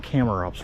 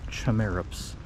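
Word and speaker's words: Chamaerops: By the way, we've been saying Camerops wrong. It's supposed to be pronounced Chimerops. I don't like that either, but I guess that's the correct way to say it.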